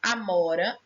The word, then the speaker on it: amora: Na palavra amora, a sílaba mó é a única sílaba tônica.